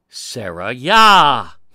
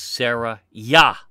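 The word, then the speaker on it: Seraiah: In 1 Esdras 8, the father of Ezra is Sarayah. But that's not the actual spelling. It's close to the pronunciation. He's Sarayah.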